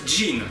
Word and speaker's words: Gênes: Gênes se prononce jean en anglais.